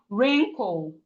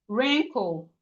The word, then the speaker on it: wrinkle: We have wrinkle. Rinko. The W in wrinkle is silent.